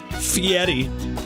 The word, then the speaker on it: Fieri: But Guy Fieri, Fieri is the way I pronounce it and the way Guy pronounced it. So it's got to be right.